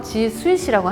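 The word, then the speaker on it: G Suite: 자, 그래서 호텔의 스위트룸, 스위트 발음이 그래서 지스윗이라고 합니다.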